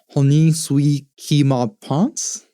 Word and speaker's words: Honi soit qui mal pense: And then the poem wraps up with a French phrase, Honi soit qui mal pense. Again, not a good pronunciation. I've done some French studying, so Honi soit qui mal pense. That's much better.